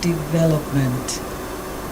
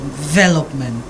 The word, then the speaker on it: development: A 4-syllable word. Second syllable is where you put your emphasis. So forget about the there. It's where your emphasis is. I don't know whether you understand me. So when you say the first word, I don't know how you pronounce it again. Development. No, that's wrong. But it's development. The emphasis is on development.